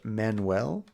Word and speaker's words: Manuel: yes yes you're right manual is pronounced men well really man well I've heard that before